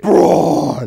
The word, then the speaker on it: Braun: Braun.